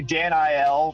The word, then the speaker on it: Daniel: My family will call me Dan Il, which is like the Hebrew pronunciation.